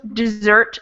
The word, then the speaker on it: dessert: s's in it so it's pronounced the same as the verb but it has two s's and it means something totally different does anybody know what dessert means when it's got